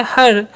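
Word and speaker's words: her: तो इसीलिए इ आर का उच्चारण क्या हो जाएगा? यहां पे इ का जो उच्चारण है अ हो जाता है। जैसे हम क्या पढ़ते हैं? एच इ आर से हर।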